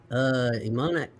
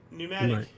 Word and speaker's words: pneumatic: 1888, Scottish vet John Boyd Dunlop patents pneumonic bicycle tire. Pneumatic. Pneumatic. It's a difficult word.